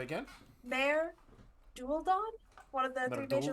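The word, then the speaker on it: Maer Dualdon: Mare Dualdon, one of the three major Merdulden?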